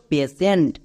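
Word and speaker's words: patient: Next TIENT, টিয়েন্ট না, সেন্ট, এটা হচ্ছে ওয়ার্ড প্যাটার্ন। তাহলে কি হলো? পেশেন্ট। দেখো এই ওয়ার্ডটি সবার পরিচিত ওয়ার্ড, বাট এই ওয়ার্ড প্যাটার্নটি জানছো না, তাই এই ওয়ার্ডকে অনেকেই ভুলভাল উচ্চারণ করছো।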